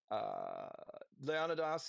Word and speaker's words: Leonidas: Oh, Leonidas is, that's how you say it in Greek, is uh, Covenant General for Artemisia.